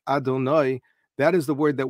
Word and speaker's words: Adonai: But the name that we call the Shem Havaya, the Shem HaMafurash, which is written Yud-Kei Vav-Kei and pronounced Adonai, that is the word that we find primarily used in the Torah, describing God.